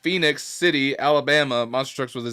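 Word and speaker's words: Phenix City: assuming this is pronounced phoenix city alabama monster trucks with a z but there's no o it's just p-h-e-n-i-x i'm assuming it's pronounced phoenix and then we got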